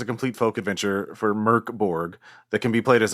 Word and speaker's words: MÖRK BORG: All this time I've been making fun of it and it says it's Merkborg. Merkborg.